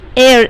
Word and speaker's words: heir: Heir, H E I R. And it is pronounced as air or H-E-I-R-E-S-S or heiress. So we use an with air or heiress because H is silent.